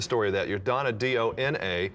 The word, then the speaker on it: Dona: And the original pronunciation of my name was supposed to be Dona.